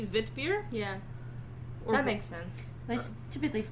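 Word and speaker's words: witbier: they have similar principles it's w-i-t-b-i-e-r so if it's pronounced kind of like german it'd be vit beer yeah that makes sense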